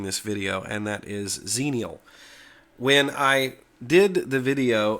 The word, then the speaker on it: Xenial: the corect correct pronunciation of zenial and I pronounced it as jeanel um I looked it up and the pronunciation